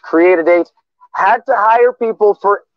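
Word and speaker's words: Cre8AD8: The company pronounced Create a Date had to hire people for every role needed to fulfill its $39.13 million contract.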